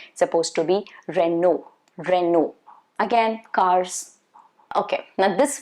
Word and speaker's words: Renault: of these are wrong supposed to be renault renew again cars okay now this one i remember